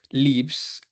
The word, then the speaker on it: lives: Ruth lives in Spain. Lives, ¿vale? Algunas personas la pronuncian como life. Digamos que la diferencia entre live y life, voy a ponerlo acá.